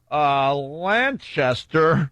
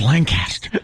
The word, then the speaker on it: Lancaster: On my way to Lancaster. No, you said it wrong. It's Lancaster. Right.